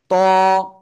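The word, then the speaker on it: ط: তারপরে যে অক্ষরটা শিখেছিলাম এই অক্ষরটা জিহ্বার আগা কোথায় এই উপরে দুই দাঁতের গোড়ায় লাগাবো লাগিয়ে মোটা আওয়াজে পড়বো ত এক আলিফ টা নিয়ে কয় আলিফ এক আলিফ ত ত ত সবাই একসাথে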